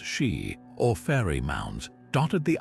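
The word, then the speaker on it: Sídhe: The Shia, pronounced She, or fairy mounds, dotted the Irish countryside hills that opened under moonlight to reveal glittering halls.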